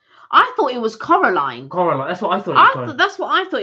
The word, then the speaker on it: Coraline: Kirsty said it it's think of Caroline or Coraline switch the switch the an and the O around car uh what Caroline no it's not Caroline I thought it was Coraline Coraline that's what I